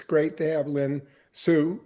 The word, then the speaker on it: Lynn Hsu: installment I absolutely do it's great to have Lynn Sue right that's right ready to pronounce it yes uh and Lynn have we